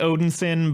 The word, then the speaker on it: Odinson: the point that like you pronounce it Odin sin but it's because it's spelled odin son oh I see gotcha